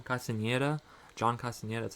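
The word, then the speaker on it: Castañeda: John Castafieda. Is that how you say his name? Castaneda.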